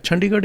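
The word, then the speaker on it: Chandigarh: okay yeah any yeah chandigar is the name of the city sorry how do I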